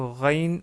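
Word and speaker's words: غين: que vous l'avez deviné, la lettre Rain ressemble, si ce n'est pas exactement la même chose, à la lettre R en français. Et on veut dire par là le R tel qu'il est prononcé à Paris.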